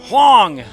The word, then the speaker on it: Hwang: Hwang! The H is silent.